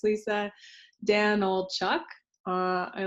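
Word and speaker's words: Danylchuk: the super short crash course on how to pronounce my last name so it's Lisa Danel Chuck uh I like to joke how much wood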